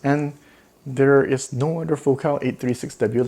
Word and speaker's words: Focal: I pronounce it Focal because I speak French, and this is a French company.